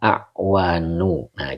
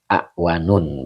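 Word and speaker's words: أعوان: Wa amma awanu. Nah, kita tetap ya bacanya isim ghairu munsarif walaupun ada yang baca awanun begitu.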